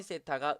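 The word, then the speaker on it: θ: 이걸 동시에 만족시키는 이 쎄타 세타 라고 읽어요 각은 조 대체 몇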